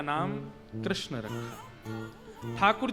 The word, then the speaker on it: कृष्ण: ठाकुर जी का नाम लोग अधिकतर कृष्ण शब्द का उच्चारण गलत करते हैं। कई लोग कृष्ण कहते हैं। कई लोग कृष्णा बोलते हैं। कई लोग कृष्ण बोलते हैं। बहुत उच्चारण उसका शुद्ध नहीं कर पाते। शुद्ध उच्चारण कृष्ण जय बोलो वृंदावन बिहारी